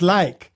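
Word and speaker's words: lijk: You know what Phil you know I'm I'm native Dutch in Dutch corpse is like l i j k and it's pronounced lake right?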